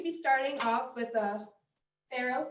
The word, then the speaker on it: farro: starting off with a pharaoh salad pharaoh like pharaoh from the egypt towns pharaoh how do you